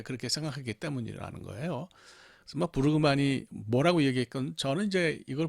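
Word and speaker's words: Brueggemann: 거기서 이제 그 제가 한참 공부하던 시절에 그때 현역으로 그 구약을 가르치던 그 부르그만 이게 참 발음이 어려워요. Bruggegemann. 부르그만으로 부르는 것이 맞는 것 같은데.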